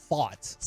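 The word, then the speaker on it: Pfaadt: Fought. I do believe. The stupid P, right? Not him. Just there's a P in his last name. It's PF. Not even PH.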